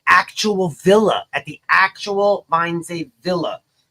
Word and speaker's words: Wannsee: At the actual Wanese. How do I pronounce it? I'm sorry. Wannsee. No, Wannsee. It's like wine. Gotcha. It's like wine. Wannsee. It's a seer.